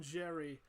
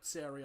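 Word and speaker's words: Xerri: Eli Clark and Bronson Jerry is back. Or Seri, I think it is how you properly pronounce the X.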